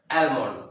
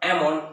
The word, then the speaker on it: almond: most of the time the people are speaking almond but ammon is also a current pronunciation next if a word ends with m